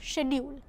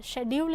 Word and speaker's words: schedule: Also, American English pronounces the sound sk at the beginning of the word schedule, which is British. Schedule is British and schedule is American English.